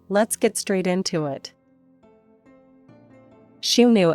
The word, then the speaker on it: Xiongnu: get straight into it she knew as it's pronounced in Mandarin was the dynastonym of